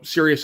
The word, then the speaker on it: Sirius: saying out loud, because it's spelled, Sirius as in the dog star, but yeah, no, Sirius as opposed to unserious, sure.